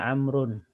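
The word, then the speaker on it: عمرو: waktunya ini menunjukkan bahwasanya dia bacaannya amrun dan Diamond shorif uddin Hai dan ini untuk membedakan dengan Umar kalau tulisan Umar tanpa Wow bacaannya omaru nya Tapi kalau ada Wow bacanya amrun Oh ya kemudian dijelaskan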